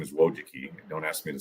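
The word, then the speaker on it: Wojcicki: So those children, the two Wiki, their last name is Wojuki. Don't ask me to spell it, but it's pronounced Wojuki. Um Susan and Anne Wojiki, uh one YouTube executive, early Google employee ended up running YouTube.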